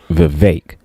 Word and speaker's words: Vivek: now from what I understand, Vivek, his name is not pronounced Vivek, it's pronounced Vivek. Like it rhymes with snake.